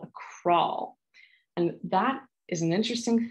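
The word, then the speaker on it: kraal: dig what's called a crawl and that is an interesting thing crawl does not sound like an english word and you see it's spelled k-r-a-a-l and i actually have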